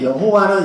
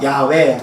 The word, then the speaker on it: 야훼: 이름이 야외 야외이고요 여호와입니다 여호와는 영어식 발음으로 그렇게 하는 히브리식 발음이 같은 말이라 생각하시면 돼요 여호와 야훼 하나님입니다 무슨 얘기냐면 1장